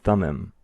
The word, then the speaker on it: Thummim: what's known as the Urim and Tumim, or some may pronounce them Urim and Thummim.